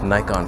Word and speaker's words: Nikon: all photography aren't they those Nikon freaks that's how you pronounce Nikon by the way it's not Nikki norn on so as I await